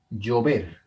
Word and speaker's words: llover: Llover es una palabra que tiene el acento en la última sílaba.